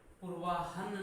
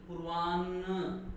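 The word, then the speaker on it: पूर्वाह्न: फिर इसका उच्चारण होता है पूर्वाहन नहीं पूर्वान्न, यहां तो बोला हमने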